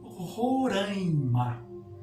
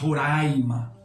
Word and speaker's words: Roraima: eh há pouco tempo criou-se um modismo né de de se usar se pronunciar Roraima que não tem sentido né Se nós formos pronunciar Roraima então nós temos de pronunciar andaime em vez de andaime existe aí uma nasalização à esquer então não pronunciem Roraima não pronunci rima a